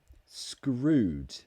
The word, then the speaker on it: screwed: that okay so um the first one screwed screwed it's a very strong ooh screwed screwed in the